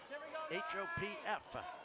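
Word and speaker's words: Hopf: H-O-P-F. So I'm going to pronounce it Hop.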